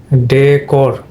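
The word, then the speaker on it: decor: হলো তোমার এটাও নাউন নাউন হলে তোমার প্রথম সিলেবলে স্টেজ পড়বে তাহলে এটা হবে তোমার ডেকোর ডেকোর এই যে বাংলা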